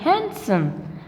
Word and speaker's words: handsome: l is silent and it's handsome not handsome it's not handsome it is handsome what handsome because d is silent here and right we say